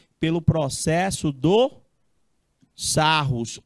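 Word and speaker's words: Sarrus: 3 pelo processo do sarros ou sarri porque o cara é francês essa ri a pronúncia do cara aí ó você entendeu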